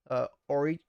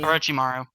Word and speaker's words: Orochimaru: We have Darth Vader, Alpharad, Crom, Ronald McDonald, Orichimaru. How do you say it? Orichimaru? Orichimaru, Paul Yep, McCartney, Orochimaru.